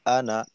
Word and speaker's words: أَنَا: আসলে এখানে কায়দাটা কি কায়দাটা হলো আলিফ দিয়ে যদি এভাবে আনা লেখা থাকে তো এই আনা টানা যাবে না আলিফ আনা টানা যাবে